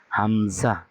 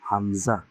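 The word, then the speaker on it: همزة: তারপরে হয় কি, হামজা, হামজা, হামজা, হামজা। এটার উচ্চারণটা হলো হামজা, আর এটা উচ্চারণ হলো অবশ্যই ইয়া, ইয়া।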